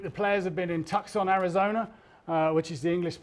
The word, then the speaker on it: Tucson: And also this week, the players have been in Tucson, Arizona, which is the English pronunciation.